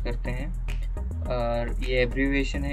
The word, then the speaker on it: IASC: Generally, Asteroid search campaigns are conducted by IASC pronounced "Isaac".